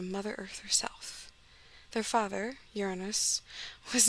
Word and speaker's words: Uranus: there was this guy uranus trust me that is how it's pronounced by academics i looked it up